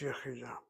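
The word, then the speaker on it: יְחִידָה: Just think of the word yachid, 2 syllables, add the kamatz, you have 3 syllables, and you drop the kamatz to shvana as you add the kamatz. You don't have this yachidah, it's yachidah.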